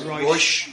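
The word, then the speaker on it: Reusch: Because I've always pronounced it Rouge. So we call it Rouge. Yeah. It is Rouge.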